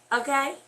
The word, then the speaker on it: AKAY: Okay? So, and if you ever seen hashtag AKAY, that is pronounced okay.